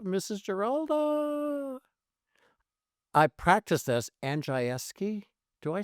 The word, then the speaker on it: Andrzejewski: Andrzejewski. Do I say it right? Andrzejewski. Patricia Mae Andrews in Polish. It's like really common, like Smith. Andrzejewski.